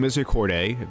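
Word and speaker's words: Misericorde: I like to keep Lightning Misericordiae, that's how you pronounce it.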